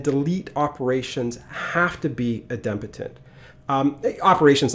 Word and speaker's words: idempotent: Now, whenever you talk about the HTTP methods, one of the terms that you have to mention is idempotent. Some people mispronounce it idempotent. It's actually idempotent.